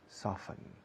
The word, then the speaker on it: soften: Y ahí la T es muda, soften. ¿Con qué frecuencia suavizas la ropa? How often do you soften the clothes? Okay. No se dice soften, así que no se debería decir tampoco often. Often.